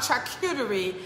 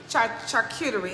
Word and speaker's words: charcuterie: it right thank you uh so it's called chuck cutery charcuterie it's very fancy i don't know is that